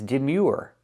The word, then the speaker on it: demure: And the last word is demure. Demure. Your. The ur sounds like your. The y like in yes and yesterday. The uh sound like in food. U plus the r.